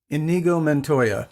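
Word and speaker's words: Inigo Montoya: me mad you'll probably have to help me pronounce this Ingo Ingo mono mon uh you killed my father prepared to die enigo ment Toya yes you killed my father prepar to die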